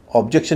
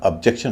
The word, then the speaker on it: objection: आई ऑब्जेक्ट, क्योंकि आप अपने पात्रों से गलत उच्चारण करवा रहे हैं। ऑब्जेक्ट नहीं होगा, ऑब्जेक्ट होगा। आई ऑब्जेक्ट। ऑब्जेक्शन नहीं होगा, ऑब्जेक्शन होगा।